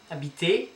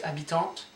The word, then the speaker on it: habite: On pronounce this, habitons. Vous habitez, habiter, et, habiter. So it's not habitez, it's habiter, et. And il, elle, habite, habite.